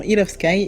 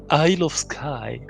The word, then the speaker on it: Isle of Skye: Je reste sur mon Hill of Sky et vous saurez que on parle de ce fameux jeu qui...